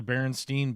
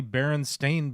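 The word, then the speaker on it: Berenstain: Bears right agreed yes no it's supposedly Baron stain Bears supposed German I understand supposedly supposedly it's spelled b r n s a i n like Baron stain not Baron Stein okay no weird look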